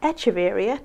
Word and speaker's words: Echeveria: at the front is echeveria or echeveria to pronounce it correctly compton carousel now this